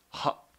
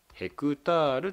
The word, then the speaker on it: ヘクタール: ヘクタールと言いますアルファベットの H と A を書くこれではって読むんじゃなくてヘクタールと読みますなのでこの